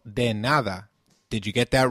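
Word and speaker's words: de nada: how about trying you're welcome it is called deada did you get that right deada let's see if you remember nice to meet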